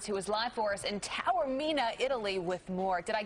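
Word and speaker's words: Taormina: it tell her me Tower Mina yeah it's kind of like a fast tower than the mean and I'll tell you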